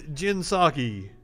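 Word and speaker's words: Jen Psaki: you i would find out so here is jinsaki and that that's kind of a cool name i called her sakai jinsaki that's a really cool name at the same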